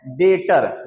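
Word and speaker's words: debtor: हैं उसको बोलते हैं डेटर यहां डेबिटर लिखा है लेकिन बी बेचारा साइलेंट है इसलिए इसको डेटर बोलना क्या बोलना डेटर डेटर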